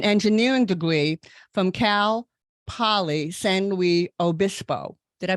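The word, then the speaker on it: San Luis Obispo: Virginia and an engineering degree from Cal Poly senwi Obispo did I pronounce that right that's correct yeah okay that's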